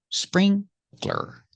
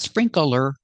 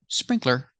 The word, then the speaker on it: sprinkler: Remember, two syllables, sprinkler, not sprinkler, sprinkler.